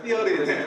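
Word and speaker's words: Theory: 티니치 발음 번데기 발음입니다. 티어리.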